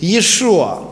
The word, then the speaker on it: Yeshua: It is true and absolutely true that the correct Hebrew pronunciation is Yeshua.